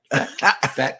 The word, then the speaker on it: Phat: he really talking about fat cats and it and and it's and and it's spelled p a t oh pretty hot and